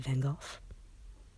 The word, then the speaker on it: van Gogh: portraits and impressionist portraits there's our friend van Gogh or as the British say van Gulf this is an absolutely